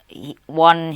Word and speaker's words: on: It's pronounced on.